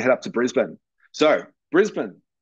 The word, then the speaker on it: Brisbane: up to Brisbane so Brisbane pronounced Brisbane despite how it is spelled it is Brisbane um is the capital